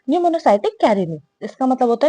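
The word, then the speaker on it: Pneumocystis: पी इज़ a silent निमोसाइटिक Carini.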